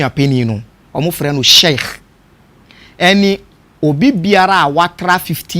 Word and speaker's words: sheikh: no nko with that spiritual aspect na wayɛ shake ne nasefo ɔka no where the shake no